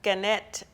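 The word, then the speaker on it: Gannett Fleming: engineer construction project manager at a company called ganette Fleming am I saying it right um right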